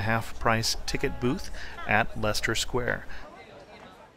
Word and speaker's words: Leicester Square: price ticket booth at Lester square and Lester Square which certainly doesn't look like it's spelled that way is the heart of